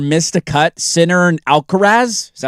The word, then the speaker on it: Alcaraz: The last time Scotty Scheffler missed a cut, Sinner and Alcaraz, is that how you say it?